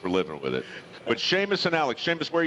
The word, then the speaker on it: Seamus: We have Alex and Seamus. I love Seamus. But you spell it funny. S-E-A-M-U-S? Yes, sir. But you say the H. Yes. It's like Sean, S-E-A. And same concept.